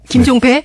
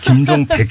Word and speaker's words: 김종백: 자, 이 김종백 씨, 우리 지금부터 발음 조심합시다. 김종배? 네, 김종백 씨.